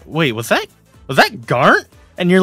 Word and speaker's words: Garnt: Well, because nobody knows how to say his actual name, Garnt. They all think that it's a typo and say Grant.